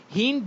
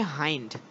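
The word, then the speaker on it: hind: হিন্ড না, উচ্চারণ হচ্ছে হাইন্ড, হাইন্ড গাট।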